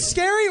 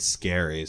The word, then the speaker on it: Scarry: Is it Scary or Scary? I never knew how to pronounce his Scary. name. Oh, I always said Scary. Because he's got the 2 R's.